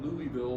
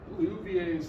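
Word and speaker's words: Liouville: theorem will you well physicists call that louisville but that's not how it's pronounced taken up with french but luvier's theorem we did talk about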